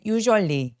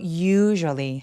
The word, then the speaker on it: usually: 여러분 요거 usually 발음할 때 usually 아니고 usually 하면서 강세를 또렷하게 첫 번째 U에다가 주시면 돼요.